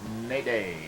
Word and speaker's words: Nade: Dwayne Nade. Rhymes with Mayday, and I imagine that's what a lot of ball carriers scream when he hits them.